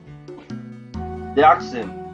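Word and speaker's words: Deauxnim: You're Miss Elise the Oxen. Or how do you? No, the X is silent, right?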